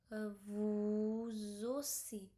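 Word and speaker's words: vous aussi: It will be a vuzosi, zosi, because we have to pronounce it like z sound.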